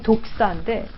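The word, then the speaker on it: δόξα: 헬라어는 발음이 독사인데 이 단어는 빛난다, 높다 이런 단어에서 나왔습니다.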